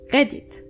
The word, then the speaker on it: Reddit: For those of you who use Reddit, Reddit in German is Reddit. Reddit. The only difference is that you actually have to roll your R.